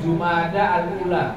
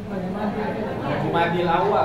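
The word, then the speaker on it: جمادى الأولى: Al Ula yang benar Jumadil Awal salah ben jumada Alula benar Jum belajar bahasa Arab Jawa Kalau dalam bahasa Arab yang benar bacanya jumada Alula jumada alakhirah dua bukan Jumadil ya kalau orang yang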